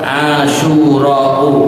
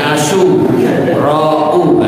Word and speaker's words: Asyura: disebut hari asyurau ya bacanya harus cepat asyurau jangan berhenti di tempat Hari apa hari asu rauah ini Ben melek iniah